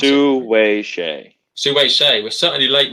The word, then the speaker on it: Hsieh: Sorry, how do you pronounce it? Su-wei Hsieh.